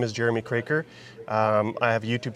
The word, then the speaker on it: Kroeker: a part where I teach Angel how to pronounce my last name for the record it's crer so here's Angel her channel is Red Rider